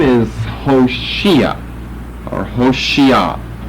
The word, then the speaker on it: Hoshea: The Old Testament's name is Hoshea, or Hoshea. H-O-S-H-E-A.